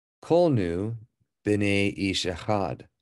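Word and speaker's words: בני: If it was a hirik or just one dot, it would be b'ni, so it would be my son. But because it's b'nei, you pronounce it with the A sound, it means children of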